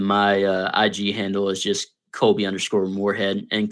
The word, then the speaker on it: Kolby: ig handle is just kobe underscore warhead and kobe is like spelled like the cheese with a k so k-o-l-b-y underscore